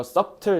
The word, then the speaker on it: subtle: 그래서 이거 subtle 이렇게 하면 안 돼요. subtle b를 좀 드셔야 돼요. 발음할 때.